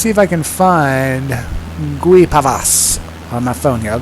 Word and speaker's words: Guipavas: Guipavas, apparently, is how you pronounce it.